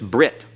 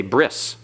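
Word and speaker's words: ברית: they even go further the tau is no longer pronounced as a t it's an S so they say bris in modern Hebrew modern Hebrew is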